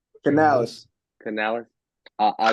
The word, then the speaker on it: Canales: like their new head coach Dave how you pronounce his last name Canales Canales I I like his I like the